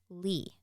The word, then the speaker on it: Leigh: The most successful sly grogger from 1919 was a Dubo-born Kate Lee. But her last name is spelled Leigh.